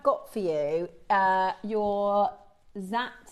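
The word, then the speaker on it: Dzi: So these are known as Z agate pronounced Z spelled D Z I and again they originated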